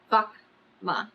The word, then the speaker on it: Vaka'ma: the craft a VMA pronouncing it as syllables VMA the sun sets and